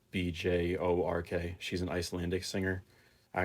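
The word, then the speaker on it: Björk: It's Bjork.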